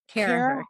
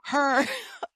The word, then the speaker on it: Carragher: We're back with another amazing episode, and this week we have Carragher, who did I pronounce that right? Carragher. Carragher.